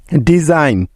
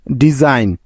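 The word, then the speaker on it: design: বা উজ্জ্বল থাকার নিয়ম এন এর আগে জি থাকলে ওই জি টার উচ্চারণ হয় না অর্থাৎ সাইলেন্ট থাকে যেমন সাইন এস আই জি এন সাইন ডিজাইন ডি ই এস আই জি এন ডিজাইন ফরেন এফ ও আর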